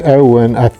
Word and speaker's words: Eoin: When I say Owen, it's spelled E-O-I-N, I think.